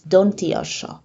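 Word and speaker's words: দন্ত্য স: And the last letter in today's video is Dontiosho. Dontiosho is used and pronounced as an S in science or scene or scenery in English.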